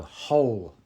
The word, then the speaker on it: whole: Two different words pronounced exactly the same. It's a silent W. So whole and whole. One with a W at the start and one without.